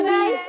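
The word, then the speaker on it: knife: हैं, के है मैम उसका जो फर्स्ट मैम नाइफ है मैम नाइफ यस मैंने सुन लिया नाइफ जो के का उच्चारण है वो इसमें यानी छुप गया है,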